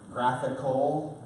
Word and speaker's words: GraphQL: A lot of clients support graphical, as it's pronounced there, which you'll see in a minute, is a pretty cool, pretty simple but very, very powerful.